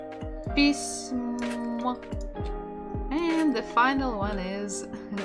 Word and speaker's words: письмо: Мягкий знак, пись, пись, м, письмо. And the final one is о, письмо, письмо. The stress is on the final syllable.